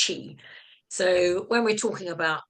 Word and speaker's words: qi: It's spelled QI, capital Q, and an I. It's pronounced chi.